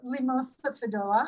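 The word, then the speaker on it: Limosa fedoa: Well, it says Limosa fidoa. I'm probably not pronouncing it right.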